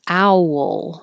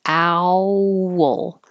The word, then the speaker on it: owl: This you can pronounce two ways. Owl, like two parts. Owl. Or don't round your lips so much. Owl. Owl. Either way.